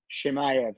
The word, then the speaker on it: Chimaev: If I pronounced that right, Brian? Chimaev, there you go.